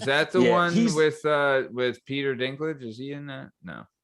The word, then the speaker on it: Dinklage: Am I saying that wrong? Is there a proper way to say that? We're good. No, you said Dinklage exactly right.